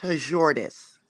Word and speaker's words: Hordis: you say your name my name is Scandinavian it's pronounced hordis hordis I couldn't say